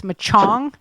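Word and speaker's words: Michaung: next day Cyclone Ma I have no idea how to say this name it's machong Mi i h Au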